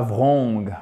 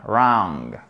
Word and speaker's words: wrong: Et pas wrong, wrong. Le W ne se prononce pas ici, on a un A. Une voyelle longue entre le A et le O, wrong.